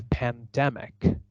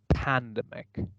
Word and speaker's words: pandemic: and it sounds like pandemic pandemic and what I do is I stress syllable immediately before the suffix ick I see that is